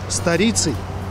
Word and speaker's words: сторицей: Ударение на «и» и пишется слитно.